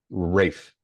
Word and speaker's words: Ralph: Ralph Fiennes. Rafe. Good, Ray. Rafe. It's That's Rafe? how it's pronounced.